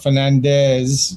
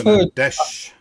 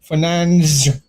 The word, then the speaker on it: Fernandes: But By the way, I know we say Fernandes, not Fernandez with the Spanish one. No, it's Fernan-desh. Yeah. Well, I've heard I've heard another one, Fernans, like that. I've heard that pronunciation.